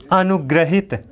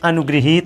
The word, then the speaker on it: अनुगृहीत: चलने वाला अंतरंग क्षणों अनुग्रहित अनुग्रहित अनुग्रहित नहीं होता है अनुगृहित होता है क्या होता